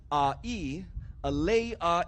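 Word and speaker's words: ʻāʻī: lay but because your your neck in Olo Havi is pronounced as a e a lay a e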